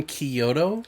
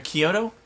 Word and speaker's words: Chiodo: Yeah, Stephen Chiodo. I think that's how you say it because it sounds like an Italian name. Yeah. Or Kyoto?